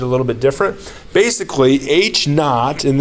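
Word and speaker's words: h₀: might teach it a little bit different basically h naught and it's just an H with a little zero little subscript 0 that's just pronounced H naught H naught is our initial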